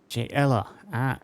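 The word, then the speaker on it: Jaella: J Ella, it is a hard J. I was not certain. I had not been pronounced before. I was not saying if it was a Yella like is it Yan? Jella. It is a Jella.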